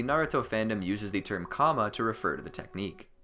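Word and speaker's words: Kāma: so far number 38 there's some disparity over how to pronounce the technique the otsotsuki used to reincarnate in another individual this seal is known as a comma in the original japanese but translated to karma in english localizations by and large the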